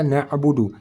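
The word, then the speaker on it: نَعْبُدُ: Di mana letak kesalahan na'budu? Yaitu di sini ain sukun ataupun huruf ain mati. Cara baca huruf ain kita sudah belajar tadi di tengah kerongkongan.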